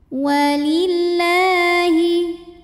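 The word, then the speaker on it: وَلِلَّهِ: Lam pada lafaz Allah atau lam jalalah dibunyikan secara tartik. Kenapa? Karena huruf sebelumnya yang lam berbaris di bawah kasrah. Maka cara baca lamnya adalah tipis, bunyinya lah tanpa harus mengangkat pangkal lidah.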